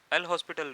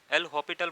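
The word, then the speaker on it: L'Hôpital: तो अगर ऐसी फॉर्म बनती है इनडिटर्मिनेंट फॉर्म जिसको हम कहते हैं, आपको इसको एल हॉस्पिटल रूल से, एल हॉपिटल बोलते हैं वैसे उसकी प्रोनाउंसिएशन, ठीक है, उससे सॉल्व करना है।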